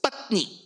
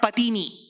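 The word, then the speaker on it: पत्नी: So Patini should be the word in Sanskritam. Like Harini, Patini. But Panini has laid one rule. What he says is, for the word Patini alone, you have to take it half. So it's Patni, not Patini.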